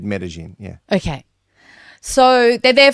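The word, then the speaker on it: Medellín: No, Medellin. It's like, I don't know how it's spelled, but I know it's said Medellin.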